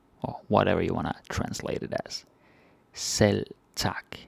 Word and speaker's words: selv tak: Selv tak. We don't really pronounce the V like selv tak.